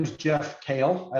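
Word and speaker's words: Kehl: my name is jeff kale i like to say it's uh pronounced like the vegetable but spelled differently so i'm the vp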